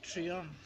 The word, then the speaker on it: treen: It's spelled Treen, but if you go online, if you go to Encounter Dictionary, you check the spelling. So treen, Treen, and the pronunciation is trion.